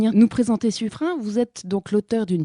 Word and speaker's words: Suffren: Le secrétaire écrit son nom in. Ce qui prouve bien que c'est la prononciation correcte qu'il faut utiliser. Donc nous dirons suffrin si vous voulez bien.